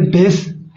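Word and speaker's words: pace: ए, यहाँ पे हमने पेस कर दिया है, यहाँ पे पेस होगा, पेस, पी ए सी ई पेस। Okay friends, तो यहाँ पर ई का उच्चारण नहीं होता है, ई का उच्चारण इसमें नहीं करते हैं।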